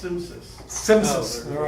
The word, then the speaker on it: CMSIS: CMSIS, thank you. Pronounced Simsys.